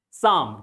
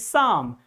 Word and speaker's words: psalm: Sam. This word is pronounced spelled like sam. Here you will find p and l. Both letters are silent. Both letters are silent. P and l both are silent. Psalm.